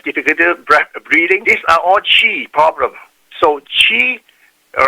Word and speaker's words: Qi: These are all chi problems. So chi, all right, is spelled as QI and pronounced as CHI, which equate to biblical terms found in the book of Genesis called the breath of life.